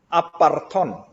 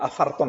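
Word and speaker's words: ἄφθαρτον: Nah, ini, aparton, ya afarton sebenarnya bacanya.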